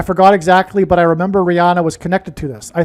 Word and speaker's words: Rihanna: So the news came out on 8/8, the day of the Lahaina fire, and she is Rihanna, which rhymes with Lahaina.